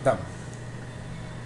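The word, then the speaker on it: דם: Se pronuncia Dam. DM. Dam.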